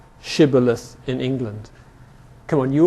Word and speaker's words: shibboleth: And he would say, Sibboleth. Ha ha, you're not a Jew, you can't say shibboleth, and they'd be killed. This is from Milton, where many men were put to death for want of well pronouncing shibboleth.